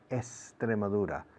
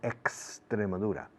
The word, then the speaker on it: Extremadura: The rule in Spanish is la X antes de un consonante es como S. Extremadura, no Extremadura. Extremadura.